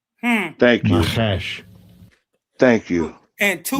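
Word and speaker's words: נחש: Nachash.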